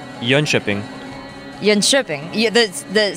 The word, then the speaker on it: Jönköping: It's Jönköping. Jönköping. Yeah, the syllable. Who's right, Robin? That's what I said. Jönköping.